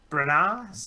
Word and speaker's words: Branagh: the follow-up to kenneth branagh oh god i've butchered his name you were close branagh i had i don't hit the murder on